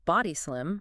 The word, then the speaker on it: Body Slim: And just for clarity before we jump in, the company name Bodh Slim, it's pronounced Body Slim.